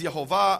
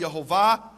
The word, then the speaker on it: Yehovah: In fact, it says there in the Hebrew, Yud He Vav He, which I pronounce as Yehovah, others pronounce as Yahweh or Yahweh, and I won't go now into the reasons for those differences.